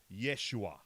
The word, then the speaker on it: Yeshua: They pronounce it Yeshua. Yeshua. Because- Isn't that just... Cool, I guess? No, that's the way you pronounce... That it was originally pronounced in Aramaic in the Bible.